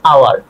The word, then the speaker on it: hour: যেমন এন আওয়ার, এখানে কি এইস উচ্চারিত হইতেছে না, উচ্চারণ হইতেছে না, তাহলে এইস যদি হচ্ছে